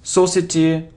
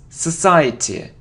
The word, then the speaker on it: society: It isn't society or society, no, it's society, society, society. Okay, so you see, delete, hide, towards, pronounce, desire, pizza, compare, reduce, reduce because, society.